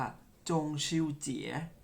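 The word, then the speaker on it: 中秋节: จันทร์ ครับ หรือ ภาษา จีน เรา เรียก ว่า จง ชิว เจี๋ย ออก เสียง ตาม ครั้ง ครับ จงชิว เจี๋ย อีก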